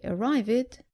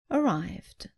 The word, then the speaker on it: arrived: Don't say arrived, say arrived.